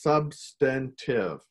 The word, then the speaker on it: substantive: The most important thing we're gonna learn today is it's pronounced substantive.